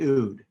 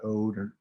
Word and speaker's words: oud: guitar which is the ood and it's spelled oud it sounds like food not ode or oud it's just food um and the ood